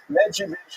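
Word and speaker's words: Medzhybizh: Medivich is the uh is the current Ukrainian pronunciation. You may have seen the Polish pronunciation.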